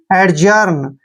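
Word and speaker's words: adjourn: हम ज करेंगे और यहां पर देखिए ओ यू जो है साइलेंट रहते हैं जब भी आर से पहले ओ यू आते हैं वहां पर दोनों ही लेटर साइलेंट रहते हैं और आर को र लिखते हैं एन को न आर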